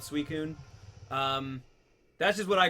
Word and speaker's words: Suicune: I believe from watching the movies and stuff though. They definitely call it Suicun.